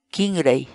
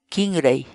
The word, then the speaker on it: Kinray: de videos en la que te enseñamos a pronunciar algunas palabras en quechua Así que nuestra palabra del día por hoy es kingray kingray kingray la palabra quechua kingy en español significa cí